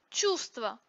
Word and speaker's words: чувство: Чувство произносится без звука В.